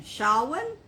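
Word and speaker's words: Samhain: h a i n is I is properly pronounced I'm not gonna get this right but s a w i n shaan now how they got sha w i n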